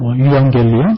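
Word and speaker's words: εὐαγγέλιον: 복음은 헬라어로 유앙겔리온 또는 에반겔리온이라고 읽습니다.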